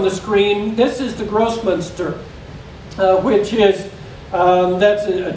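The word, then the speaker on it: Grossmünster: i want you to be careful because it's pronounced gross munster and i don't want you to think that it says gross minister okay so i don't want you to call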